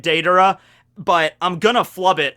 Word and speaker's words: Deidara: this video all right i will try to say it daedra but i'm gonna flub